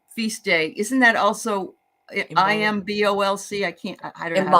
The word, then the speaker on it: Imbolc: Is so the Saint of Ireland, Saint Bridget feast day, isn't that also IMBOLC? I don't know how to pronounce it.